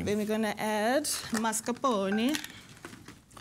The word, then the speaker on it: mascarpone: Then we're going to add mascarpone. It's like a pony with a mask on it. It's a masked pony.